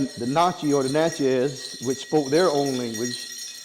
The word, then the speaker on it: Natchez: It's the Edisto Natchez Kusso. Edisto, It- how you spell It's Edisto, Edisto. right? Yep. The Natchez, it's Natchez.